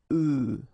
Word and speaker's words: œufs: if you listen carefully, the pronunciation is changing quite much, because for the singular form it's œuf, but then for the plural form here it's œufs, okay?